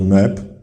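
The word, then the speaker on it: nb: Wymawiamy go jako Neb i tłumaczymy to jako Pan Władca.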